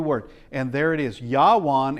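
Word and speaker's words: יָוָן: Yawan is how it's pronounced.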